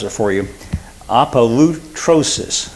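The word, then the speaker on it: ἀπολύτρωσις: The word redemption, this is a multi-syllable Greek word, and I'm going to try to pronounce it for you. Apolutrosis. Apolutrosis.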